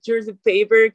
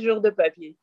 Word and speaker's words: Jour de Papier: cuando lo dicen como George the Paper, como en otros idiomas, se escucha chistoso. Pero ellos ya, como lo digan, está bien. Pero pronunciado así en francés se dice Jour de Papier.